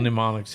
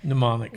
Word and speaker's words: mnemonics: Good little mnemonics.